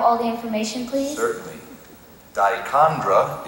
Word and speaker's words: dichondra: Dichondra is the only pronunciation.